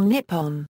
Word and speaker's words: Nippon: to a n or nipon while both pronunciations are correct nipon is frequently preferred for official purposes including money stamps and